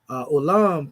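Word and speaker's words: עולם: But anyway, it says the word olam, pronounced olam, is the word for world.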